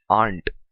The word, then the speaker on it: aren't: यू आर playing football, you आरंट playing football. और एक बात ध्यान में रखनी है, don't pronounce it एज आरंट, से इट aren't.